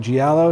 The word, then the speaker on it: giallo: man okay and this is a giallo right giallo is how you pronounce it Mario Bava okay lots of special